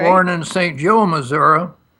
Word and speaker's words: Missouri: Joe, Missouri. It's pronounced Missouri, that's correct. Straight down, just a short distance from Independence, Missouri.